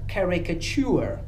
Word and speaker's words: caricature: I słuchajcie, jeden wyjątek tak naprawdę, który tutaj się doszukałem, jest taki, że w rzeczowniku to ture nie czyta się cze, tylko jest ue, caricature.